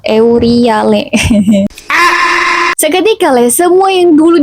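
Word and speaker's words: Euryale: Steno dan Auriel. Itu enggak sih bacanya Steno Euriel? Euriale.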